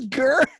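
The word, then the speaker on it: Gerr: There's no like hiding how you pronounce his last name either. Nicholas Gurr.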